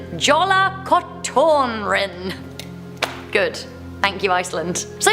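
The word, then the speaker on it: Jólakötturinn: We have the legend of, correct my pronunciation, Jola Kotorin.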